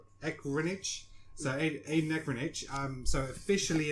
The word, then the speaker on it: Ehrenreich: How do you pronounce his name? Ehrenreich.